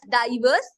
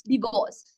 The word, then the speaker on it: divorce: we talk about divorce don't pronounce it as diverse it's not diverse it's divorce so when you talk